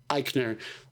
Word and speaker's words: Eichner: talking about where like Billy Eisner was basically how have you say his name I'm sorry yeah Eichner um sounded like that